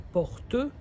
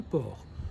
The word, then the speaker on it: port: attention c'est pas la porte mais c'est le port le port on ne prononce pas la dernière lettre c'est l'endroit où il